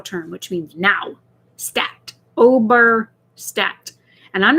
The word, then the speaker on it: Ober: It's really easy. Ober. O-B-E-R. Ober. Think of the word over.